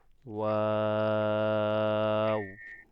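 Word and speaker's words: و: What a উচ্চারণ কিভাবে হবে, আপনার দুই ঠোঁট কি হবে, গোল হবে। গোল করবেন, গোল করে উচ্চারণ করবেন, ওয়াও, ওয়াও।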